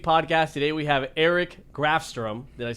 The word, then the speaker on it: Grafstrom: Today we have Eric Grafstrom.